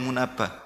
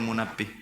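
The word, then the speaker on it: Munabbih: Ya, makanya contoh riwayat israiliyah diambil dari Wahab bin Munabah atau ada yang membacanya Wahab bin Munabih.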